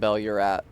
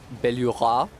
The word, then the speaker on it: Belurat: You like to pronounce Belurat with a silent T like it's French. Belurat.